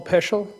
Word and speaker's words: Peschel: Peschel. To make it easy, it rhymes with special.